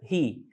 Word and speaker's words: He: He. Repare que ele tem esse som de R, tá bom?